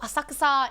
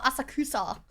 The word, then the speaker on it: Asakusa: Oh, Asakasa is perfect. If it's your if if I would recommend anywhere in Japan, Asakasa. Well, Asakusa, how people pronounce it, is really, really good.